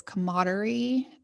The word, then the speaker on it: camaraderie: Seems like people in this police department really had this camaraderie in the town, like they would go to work or they Don't would you go to mean work.